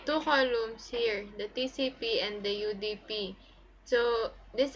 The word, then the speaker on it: TCP: when is a TCP TCP is a position of transmission control protocol and pronounced as separate letters TCP this if is one